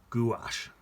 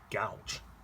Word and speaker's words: gouache: Apparently it's pronounced gouache. Gouache, I think. I call it that. To me, that looks like, that's it. Looks like it says gouge.